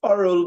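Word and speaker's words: aural: So the second one is oral versus oral. They are pronounced alike, just as we said. But the first one is spelled A-U-R-A-L. A-U-R-A-L.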